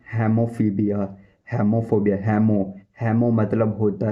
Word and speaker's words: hemophobia: खून का डर मीन्स इसको बोलते हैं हेमोफीबिया। हेमोफोबिया, हेमो मतलब होता है ब्लड, फोबिया मतलब डर, खून का डर। हेमोफोबिया स्पेलिंग बता देता हूँ।